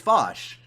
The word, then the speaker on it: Vaush: He- It's also just funny to me that no one learned, like it's Vosh. Like I don't know. I like it's just a It's nitpick. one fucking but syllable.